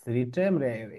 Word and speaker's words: read: রিড উচ্চারণ করবো রেড।